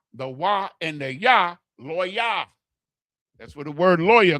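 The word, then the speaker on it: לוי: Levi is the way that the English translated it. Levi, but it's Loya.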